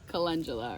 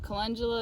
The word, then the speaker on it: Calendula: I used to call it Calendula because I liked the name, but it's actually pronounced Calendula, or most people pronounce it Calendula.